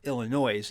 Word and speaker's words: Illinois: The People's Republic of Illinois, or Illinois, if you're from where I'm at, that's how they pronounce it in St. Louis.